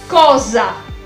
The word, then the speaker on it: cosa: y vamos a ver otra palabra que existe en español e se escribe igual pero claro la s no se pronuncia igual cosa cosa muy bien ahora